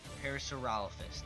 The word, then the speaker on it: Parasaurolophus: Parasaurolophus, that's how you say it.